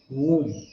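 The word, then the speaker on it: womb: बोलने का सटल सकम वूम मा की कोख वूम फ्रॉम वूम टू टूम टूम माने कब्र टूम में भी बी साइलेंट है वम में भी बी साइलेंट है मम टू टूम इस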